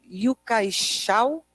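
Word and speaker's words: Yu-kai Chou: Tem 2 caras que são referência nesse assunto, o primeiro deles se pronuncia Yukai Shao, pelo menos foi assim que eu ouvi ele falando o próprio nome, mas isso é o de menos.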